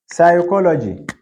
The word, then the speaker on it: psychology: not pronounced all right p is not pronounced in the word psychology right psychology yes whereas in Turkish